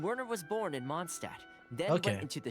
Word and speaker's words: Mondstadt: Or I guess, you know, with Mondstadt, you don't pronounce the T at the end. Do you? Mondstadt. I always pronounce it with the D at the end and not the T.